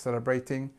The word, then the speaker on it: celebrating: at this word celebrating we start with the the strength at the beginning sah celebrate celebrate celebrating um it's actually a